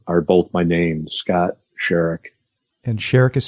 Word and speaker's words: Sharick: Instagram and YouTube are both my name's Scott sherek and sherek is spelled SH a RI CK yes Scott sherek